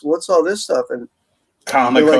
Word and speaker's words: Comico: And he said he pronounced it Kamiko. Like one of the guys that started it. Did you ever hear that? Well, he's wrong. It's Comico.